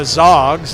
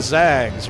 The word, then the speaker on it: Zags: they're not the Zogs, they're the Zags, right?